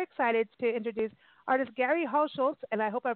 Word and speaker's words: Hauschulz: It's just a How and a Schultz. Hauschulz. Oh, Hauschulz. Okay. I'm just used to, like, the T in there, like the Hauschulz, you know, but it's not.